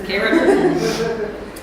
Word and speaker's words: Cairo: Now, it's actually spelled like Cairo, Egypt, but everybody there pronounces it as Cairo, so that's what I'm going to do. It's Cairo.